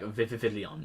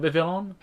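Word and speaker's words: Vivillon: I was like vividon you know I I put another V when it when it's just Villain you know but h how I think about Vivvilon.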